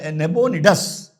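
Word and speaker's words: Nabonidus: नब नेबोनडस नेबोनेडस करके उसको प्रोनाउंस करते हैं।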